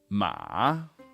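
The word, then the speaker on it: 马: ma down then up Ma slightly down and then way up so that is the word for horse in Chinese but let me just show you how this would be pronounced most commonly in real life Matt ma ma really low really short and kind of croaky that's why we call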